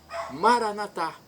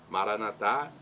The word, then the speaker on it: Maranata: Antigo Testamento Santos e agora eu digo Maranata Maranata é do dialeto de Jesus o aramaico a pronúncia com a tônica na última sílaba dos